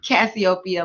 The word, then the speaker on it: Cassiopeia: So Cassiopeia, like Ethiopia.